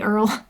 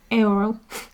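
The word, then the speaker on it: Eorl: name very well but it's e-o-r-l i keep wanting to say earl earl but it's like aoro coral oh i don't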